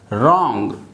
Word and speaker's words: wrong: यहाँ पर W जो है वो साइलेंट है, W को आपको प्रोनाउंस नहीं करना है, साउंड आपका आएगा R का, रॉन्ग। ये र R के लिए है, W साइलेंट, ONG। इसे हम साउंड करेंगे रॉन्ग, RONG, WR र, ओंग रॉन्ग, W साइलेंट, R का साउंड र ओंग रॉन्ग।